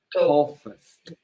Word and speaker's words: toughest: Toughest with F. Pretend that this is an F, like F, F for 4, F. toughest.